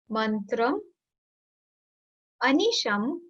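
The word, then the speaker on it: mantram anisham: Mantram. Anisham. Anisham means continuous. Anisham. So again, the trick is same. M will be used with the next word. So when you pronounce it, it would be mantra manisham.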